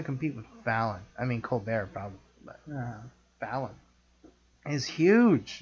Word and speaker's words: Colbert: I mean, Colbert probably, but Fallon is huge.